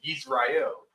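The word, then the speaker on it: ישראל: So how the Jewish man would say Israel would be the Yisrael. How they say it. Yisrael. That's the Jewish way of saying it, which has the Yiddish in it. That is, they mostly use the Assyrian writing when they write it out, when they spell it out. But they would say Yisrael.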